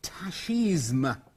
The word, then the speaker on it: tachisme: I think, I mean, it is, as you can see, it is from the French, so originally it would have been tachisme. But I think you could probably pronounce it either way.